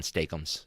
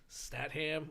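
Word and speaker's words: Statham: yeah I I uh I used to mispronounce his name a lot and we just settled on stum it's Jason stum right because otherwise it could be about like statam or Stam tains com I like that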